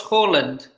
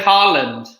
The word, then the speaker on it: Haaland: For example, I say Erling Braut Haaland because that's the native Norwegian pronunciation. A lot of people just say Haaland. That's incorrect. I know, it is.